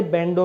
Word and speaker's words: Bandogge: पूरा मीनिंग होता है लेकिन जब हम इसको प्रोनाउंस करते हैं तो एज ए बैंडो ही प्रोनाउंस करते हैं